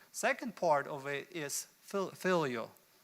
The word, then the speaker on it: philia: Second part of it is phileo. It's a Greek word that might be mispronounced, philia.